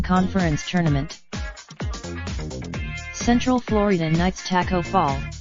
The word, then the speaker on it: Taco Fall: Taco Fall, the 7'6" Senegalese center whose name is pronounced like taco, is actually really good.